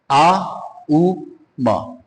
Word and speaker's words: ओम: आ उ म ओम के उच्चारण को तीन उसमें डिवाइड कर देते हैं। आ उ म अब जैसे ही आपने आगे साउंड निकाली तो आपका पूरा ध्यान मूलाधार के ऊपर जाएगा।